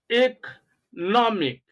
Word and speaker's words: economic: Now, the first syllable is D, then second syllable plo, and the third syllable ma. The last one, tick, diplomatic. Then you have economic, democratic, mathematic, periodic, right?